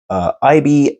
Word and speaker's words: Aibi: Aibi, I'm guessing that's the pronunciation of this because Sony makes a robot called Aibo that's spelled very similar, A-I-B-O, but this is A-I-B-I. So I'm calling him Aibi. I hope that's a proper pronunciation.